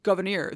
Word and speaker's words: Gouverneur: story Governor Morris again his name is derived from his mother's hugenot French Protestant name surname pronounced goir this was her last